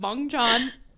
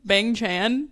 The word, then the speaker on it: Bang Chan: I was talking about bong Chan and Rachel died and she was like you mean bangchan and I was like no bang Chan which I think that you're right like that's how you say it but I just